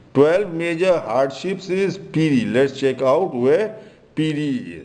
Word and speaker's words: Piri: So, and piri has been mispronounced as Fulhari. 12 major hardships is piri.